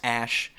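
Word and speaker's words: Æ: the letter X then the AE is pronounced Ash and then uh a12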